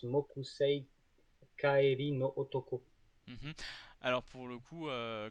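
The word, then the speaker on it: 木星帰りの男: Euh, D'ailleurs, oui, qui est traduit l'homme de Jupiter, mais qui n'est pas prononcé comme ça en VO, puisqu'il prononce Mokusei Kaeri no Otoko.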